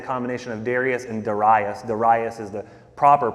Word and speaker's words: Darius: Darius is the proper pronunciation.